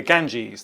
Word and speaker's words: Ganges: And the river's name is the Ganges. That's how you pronounce it. Which country is the Ganges in?